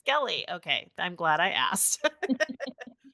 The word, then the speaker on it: Brinskele: Is that pronounced right? Brinskele is how you say Brinskele.